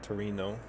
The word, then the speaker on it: Torino: Yeah, this is where we want to go to Turin, which I guess in um Italian spelled Torino, or that's how I was pronouncing it until we had translated city names in Eurot truck.